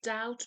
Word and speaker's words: doubt: بچه‌ها دقت کنید که doubt بیش رو pronounce نکنید. doubt.